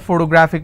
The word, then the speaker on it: photographic: If I have another word, photographic, somebody has a photographic memory. So what are the syllable break? It's photographic. And since it's ending with IC, I will stress on gra.